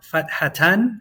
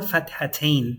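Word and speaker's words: فتحتان: We have what's called fathatan or fathatain. You're going to hear both pronunciations. Fathatan, fathatain. I'm going to go for tain.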